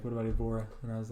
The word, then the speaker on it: Evora: I don't even know if we're pronouncing it right. Honest, what is it? It's Evora.